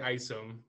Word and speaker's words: Isom: So you can follow me on Twitter, on Instagram at Isom, but the Isom is spelled EYESUM.